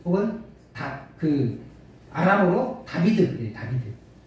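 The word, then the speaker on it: דוד: 저기 비읍 중간에 간 글자가 바브라고 해서 비읍자 비슷한 영어의 V자 비슷하게 발음나거든요. 비읍도 아닌 것이 이응도 아닌 것이 그런 비슷한 발음 나요. 바브. 그래서 달렛 바브 델렛 해가지고 다비드 이렇게 있거든요.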